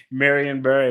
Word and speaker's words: Marion Barry: I love to hear people from DC say Marion Barry. What's wrong with that? Because, if you're from DC, you say like Marianne, like it's Mary and Barry.